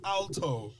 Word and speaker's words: alto: um you know oh i'm an altar man and she was like alto it's pronounced alto right and i remember thinking